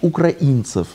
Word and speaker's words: украинцев: украинцев украинцев что касается это это по-русски правильно говорить украинцев вот что касается украинцев